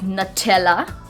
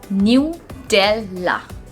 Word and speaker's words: Nutella: is nutella okay nutella so normally we pronounce it as nutella nutella where is the correct pronunciation of this word is new della new you can also